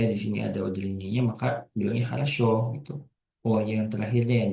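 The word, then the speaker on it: хорошо: dan penggunaan udar ini biasanya dibacanya mengayunlah haraso haraso jadi penekanannya jadi O haraso ketika di sini adaya maka bilangnya haraso gitu Oh yang terakhirnya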